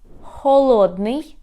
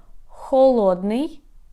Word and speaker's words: холодний: So let's compare how we pronounce in the Ukrainian words. So for example, very often you can confuse such Ukrainian words as холодний, that means cold, холодный, and голодный, that means hungry. Холодный, холодный, голодный, голодный.